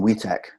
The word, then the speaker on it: WTACH: we're very fortunate in in we tech that's how we pronounce it that we have a